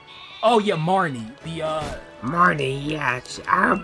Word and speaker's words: Marnie: How do you pronounce her name, Marina? Oh yeah, Marnie.